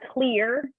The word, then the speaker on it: Xlear: So it's pronounced like Xlear. I think it's pronounced clear. Clear. I think it's how it's pronounced, but it's the X is just I don't know.